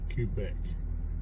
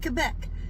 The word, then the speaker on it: Quebec: how I want to Quebec it's a big cue and then back Quebec is how you actually